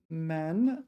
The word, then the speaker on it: 埋: Yeah, okay, so 埋怨 this is the only time it's pronounced man, or at least it's the only definition in the dictionary with man.